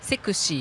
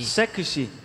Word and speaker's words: セクシー: はい Oh, so sexy is sekushi. Sekushi. Sexy is in Japanese pronunciation sekushi.